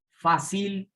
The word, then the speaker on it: fácil: Si fuera aguda, se pronunciaría fácil, fácil, suena raro. Entonces, es fácil, lleva su tónica en la penúltima, le aplicamos la regla